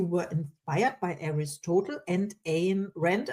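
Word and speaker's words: Ayn Rand: You were inspired by Aristotal and Ain Rand. I don't know how you pronounce this name, but I know this author. You got it right. In Randon. Yeah. As in mine.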